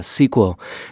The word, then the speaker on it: SQL: ở ngay trong Excel Thực ra là đọc SQL là sai chúng ta phải đọc là sequel bây giờ thì chúng